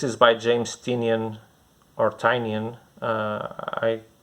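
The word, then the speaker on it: Tynion: by james tinian or tanyan uh i i heard someone pronouncing his name i don't remember if it was tiny and artenian i think it's tinian the fourth where there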